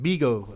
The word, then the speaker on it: Bego: What's Bego? Like Bigo? That's how you say it?